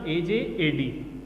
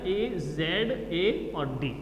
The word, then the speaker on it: आज़ाद: ठीक है, तो इसमें अंतर क्या होगा, इसको जब हम उच्चारण करेंगे तो ये हो जाएगा AJAD। ठीक है, लेकिन जब इसका उच्चारण करेंगे तो ये बनेगा AZA और D।